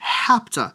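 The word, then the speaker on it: hapto: is also going to have superscript, but we pronounce that as hapta and not eta, because why make things easy, I guess?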